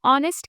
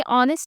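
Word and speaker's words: honest: करेंगे जिस तरह हम ऑनेस्ट के साथ भी एन यूज करते हैं है हालांकि ऑनेस्ट की स्पेलिंग है एच ओ एन ई एस टी लेकिन इसमें एच साइलेंट होता है और हम सेकंड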